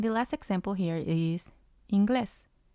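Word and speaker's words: inglés: it means english and it has two syllables glass is the first one in is the second one the rule says that the stress should be on the second syllable so it should have been ingles ingles but it's not it's ingles but we have to put the accent on the vowel of the first syllable so that we know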